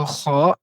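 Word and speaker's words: ر: Jimo, del Donc ici nous avons la lettre ro qui fait partie des lettres qu'on appelle, c'est-à-dire les lettres emphatiques qui émetent un son grave. Pour prononcer une lettre emphatique, c'est très facile. Il suffit simplement de lever l'arrière de la langue. C'est le fait de lever l'arrière de la langue qui va donner un son grave à la lettre, un son emphatique à la lettre.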